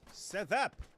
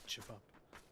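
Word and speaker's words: ćevap: But as we all know, these letters have different sounds, and I think the V is it. I think the V is pronounced R, so it's karap. No, it's actually chivap.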